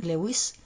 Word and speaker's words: Lewis: nuestro querido invitado, de Iván Melón Lewis, o Luis, ¿no? Como algunos pronuncian Luis.